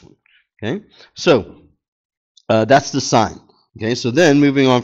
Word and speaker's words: sine: Okay, so this is pronounced like sine. Okay, so we would say the sine, we would say the sine of angle A, okay, that's how this is pronounced.